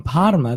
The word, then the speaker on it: Parma: Now, Parma, normally in Italian, you roll the R with a R like that. Mm-hmm. But in Parma, they've got a French influence. So they say Parma instead. And I hope I pronounced that correctly. They don't roll their R's. They don't roll the R's. They eat the R's like the French do.